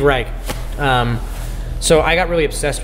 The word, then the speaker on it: Reich: a given modern composer do you say Steve rice or Steve Reich you always hear both I said it right but I write it makes sense to me because it's like a German word so Steve Reich so I got really